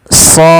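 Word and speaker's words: ص: seperti ini Shad nah cara membacanya adalah kita memanjangkan Shad ya Ini sepanjang shnya sepanjang en harakat karena di sini ada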